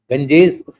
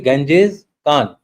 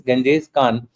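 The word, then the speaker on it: Genghis Khan: thing about the uh Gangjes it's actually Ganjes Khan that the correct pronunciation is Ganjes Khan we recently had a Mongolian delegation coming to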